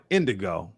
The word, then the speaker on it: INDOGGO: He says, because a lot of people, it's called Indigo, but it's spelled INDOGGO, double G-O, the D-O double G, right?